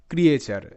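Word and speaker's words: creature: ক্লিয়ার হবে বিষয়টা next ক্রিয়েচার সি আর ই এ ক্রিয়ে টি ইউ আর ই চার ক্রিয়েচার ক্রিয়েচার সো এখানে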